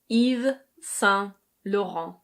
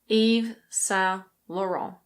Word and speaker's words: Yves Saint Laurent: In French this is pronounced Yves Saint Laurent. Yves Saint Laurent. In English we kind of pronounce it like the French. We say Yves Saint Laurent. Yves Saint Laurent.